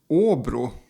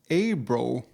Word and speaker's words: Åbro: with bear this bear Oru but if you're not used to the Swedish pronunciation you might think it's pronounced abro so they start goofing